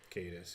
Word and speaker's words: Caedus: Caedus, yeah. She finally, that's how you pronounce it.